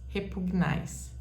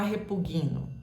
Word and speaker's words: repugna: coisa bem simples porque basta você saber que o g é mudo nunca você vai falar repughino Deus repugna não fala